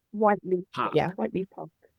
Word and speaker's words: Whyteleafe: right yeahh now this is how do I pronounce it white white leaf white leaf Park yeah white leaf Park and is white